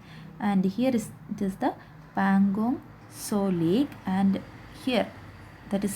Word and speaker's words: Pangong Tso: of pangong dissolic okay or we can say pangong saw like okay so in the pronunciation uh here it is a tea but that is silent so we can say pan gong so lake okay so this lake is a border